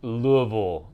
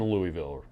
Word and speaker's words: Louisville: Ready to say Keo says, Louisville is how it's pronounced. You guys are going to be in Louisville, right? Because I say it Louisville.